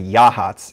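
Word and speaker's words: Yachats: by the way is spelled yacht but it's yea hot there is something new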